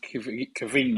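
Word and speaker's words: Caoimhín: So his first name is spelled crazy because he's Irish. So it's Caoimhin. I think it's pronounced Kevin or something like that.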